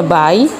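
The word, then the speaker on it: buy: bahasa Inggrisnya ada bayi-bayi tulisannya b u y bacanya baik dan kemudian dalam bahasa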